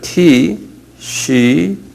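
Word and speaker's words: תשרי: 티시리.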